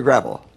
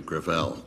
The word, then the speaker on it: Gravel: chairman I'm sorry thank you okay Thank You senator gravel with all due respect let me correct I pronounce it within my family Gravelle it's a French name thank you huh I